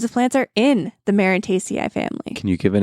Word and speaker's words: Marantaceae: Marantaceae. I had to look up how to pronounce that.